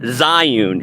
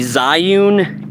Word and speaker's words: Zhiyun: just gonna yeah so I'm using the um Zion it's spelled z-h-i-y-u-n the Zion crane MS2 I got it on sale like